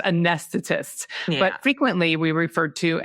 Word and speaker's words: anesthetists: I figured it. It's anesthetists. Yeah. There you go. It is generally pronounced anesthetists, but frequently we refer to as CRNAs.